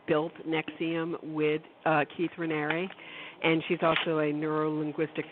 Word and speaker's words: Raniere: how to pronounce Keith's riner's name and it's pronounced rer like Canary oh interesting okay good thank you